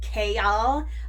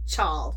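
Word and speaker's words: Chaol: says in the book that his name is pronounced k y'all but I when I was reading it in my head I pronounced it chal chol which is totally different from KL but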